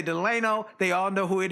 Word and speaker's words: Delano: And let me tell you folks, it's spelled D E L A N O, which would like Franklin Delano Roosevelt, but his parents said, "No, your name is Delano, not Delano. It's Deleno."